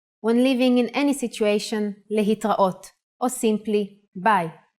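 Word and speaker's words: להתראות: Another way to say goodbye in Hebrew is lehitraot. Le-hit-ra-ot.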